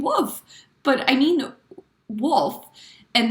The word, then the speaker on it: Wolf: So I really try to like pronounce the L like wolf, but sometimes when I say it, Dennis is like, "Did you say wolf?"